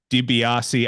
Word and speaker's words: Dibiasi: guest New Jersey Legend the one and only diassi I probably should have checked that I am pronouncing your name correctly uh before we start